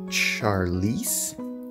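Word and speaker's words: Charlise: get scissors okay got scissors we got charlize that's how you pronounce it hopper he looks cool i like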